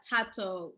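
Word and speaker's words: Thato: Oh, it's Tato. The H is Tato. silent. Mhm. The H is silent.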